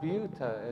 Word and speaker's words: Buta: I'm Buta as in beautiful.